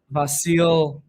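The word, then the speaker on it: Vasilj: I've heard it pronounced different ways, but Vasil um I think that's how Derek Ray says it. And if that's how Derek Ray says it, it's definitely right because Derek Ray is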